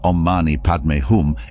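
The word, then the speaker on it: Om mani padme hum: but the power of ommani padum isn't just in its history it's in its meaning the Mantra is composed of six syllables om ma ni pad me and hum each syllable carries its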